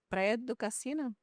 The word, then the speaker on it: Praia do Cassino: How do you pronounce it? Praia de Casino. Praia do Cassino.